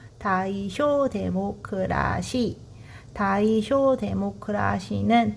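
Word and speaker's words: 大正: 다이쇼 데모크라시. 다이쇼 데모크라시는 다이쇼 시대. 여러분 뭐 대정시대 발음을 다이쇼라고 하는데 일본 발음으로 1922년 1926년 다이쇼라는 연호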